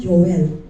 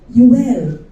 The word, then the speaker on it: Joel: Alam ba ninyo na ang right pronunciation ni Joel is not Joel? Yel.